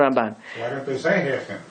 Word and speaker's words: Ramban: look at look at the ramban that's how you say it in hebrew that's the real way to say it not the way right but also he